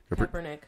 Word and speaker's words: Kaepernick: Kaepernick.